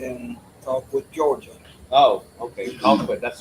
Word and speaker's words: Colquitt: We start our morning off at Colquitt Police Department, Spell that. How did you say? Oh, Conquit. That's tribal police. and then Colquitt, Georgia. Oh, okay. Colquitt.